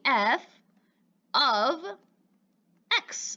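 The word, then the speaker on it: f(x): let me translate it the f parentheses x is actually f of x that's how we pronounce it and to go even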